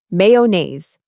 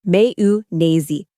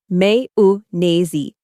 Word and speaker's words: mayonnaise: The correct way is Mayu nazy. Let's break it down. May like the month. Quick soft oo sound. Na rhymes with days. Now say it with me. May nazy.